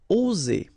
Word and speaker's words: oser: One S between two vowels will produce the sound Z, oser, okay?